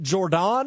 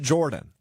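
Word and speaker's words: Jordon: Hudson or is it Jordan? It's Jordan, but you can say Jordan. Because that's how it's spelled. There's two O's. That's how Belichick fans say it, Jordan. Jordan Hudson. The casuals say Jordan.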